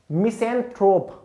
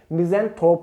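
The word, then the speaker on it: misanthrope: next आ जाता है हमारा मिसेंथ्रोप, मिजेंथ्रोप इसको बोलते हैं, इसकी रियल टाइम प्रोनाउंसिएशन मिजेंथ्रोप है, लेकिन मिजेंथ्रोप इसको बोलेंगे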